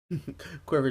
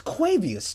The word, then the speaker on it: Quavius: Quiver Jr., thank you. Thank you for the follow. Is that even how you say no? That is not how you say it. It's Quavius Jr.